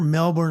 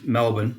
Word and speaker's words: Melbourne: be absolutely absolutely and I will correct you it's it's Melbourne not Melbourne Melbourne's in Florida Melbourne's in Victoria Australia great Point didn't take